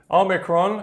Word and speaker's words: omicron: uk you may hear oh micron o micron which to me does sound a bit strange i just say omicron so there we are just so you know it does have a few different pronunciations however as i said omicron is the most uh common one okay there we go